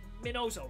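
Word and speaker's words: Miñoso: i can't say his name even though it's minoso it's not hard to say i can't say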